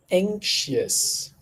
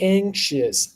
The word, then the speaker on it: anxious: say this please repeat anxious anxious anxious all right yeah so the word anxious anxious anxious anxious be careful with the letter X don't say like CSUS anxious anxious all right